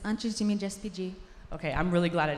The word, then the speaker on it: Antes de Me Despedir: So the name of this exhibition is Before I Say Goodbye, or in my very butchered, is it Spanish? Antes? It's Portuguese. It's Antes de Me Despedir.